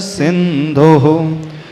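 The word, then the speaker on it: सिन्धोः: शश कर दुति दुध सिंधु सिंधु के बाद विसर्ग है तो उसका उच्चारण कैसे होगा सिंधो विसर्ग में ह का उच्चारण आएगा पीत्वा पय शशिक दुति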